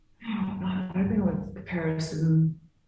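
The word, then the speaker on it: Caparison: Am I pronouncing this right when I say Comparison? Comparison, yes.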